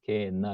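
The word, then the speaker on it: γέεννα: 요 이제 헬라어로는 게헨나 이렇게 됩니다. 게헨나 이렇게 읽어요. 게헨나.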